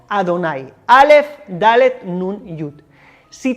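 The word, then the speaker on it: אדני: como te he dicho según la tradición judía nosotros pronunciamos este nombre de las cuatro letras como Adonai Alf dalet nun yud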